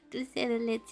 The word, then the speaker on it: dulce de leche: Dulce de leche is a name in English too. It's de. Dulce de leche. It's so weird to me to pronounce the the as se.